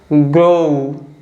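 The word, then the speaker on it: grow: है ओ ग्रो तो जब हम इसको प्रोनाउंस करेंगे तो कैसे प्रोनाउंस करेंगे ग्रो ठीक है लास्ट प हल्का सा हम उ को बोल रहे हैं ठीक है इसमें जो लेटर ओ और डब्लू है ये दोनों साथ मिलकर ओ साउंड को बना रहे हैं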